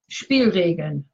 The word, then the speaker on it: Spielregeln: How's the pronunciation? Spielregeln.